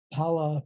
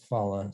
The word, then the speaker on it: phala: It's the pala part of Magapala, right? Which even I still slip into the bad habit of pronouncing it phala sometimes, but Magapala. It stands for fruition, and it has a variety of meanings.